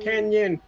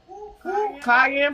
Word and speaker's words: cayenne: Can I ask you about Kenyan? About what? Kenyan red pepper, Kenyan pepper. Cayenne pepper? Cayenne, yeah, cayenne. That's how I pronounce it.